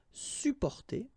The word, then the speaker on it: supporter: You can also add this sup in front of porter, supporter, supporter. You don't really pronounce the two or the double p here.